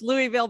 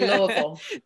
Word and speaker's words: Louisville: University of uh well we say here on the West Coast Louisville but I know there's the right way to say it right yeah yeah we say Louisville there you go I